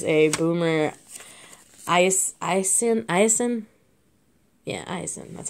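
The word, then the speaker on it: Esiason: collector and there's a boomer ice ice yeah eisen that's how you say it i've heard boomerasing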